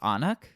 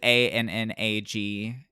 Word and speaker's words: Annag: But the one that I saw the most was Annak, which is Annag. It's like Gaelic Anna, basically. But there's just kind of like a sound at the end of it.